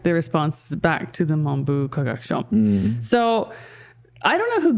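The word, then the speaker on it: 文部科学省: Monbu Kagakusho, is that how you say it? Monbu Kagakusho, okay. What did I say? Mambu. No, Monbu.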